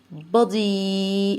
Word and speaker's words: body: ماي حرف الأو هنا مش هنطقه أو، أنا هنطقه زي حرف الأه ده، يبقى بض. بادي الواي بكسر بيها في الآخر تبقى بادي.